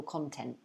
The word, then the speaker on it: content: her poetry has a great deal of political content okay meaning that her poems have a lot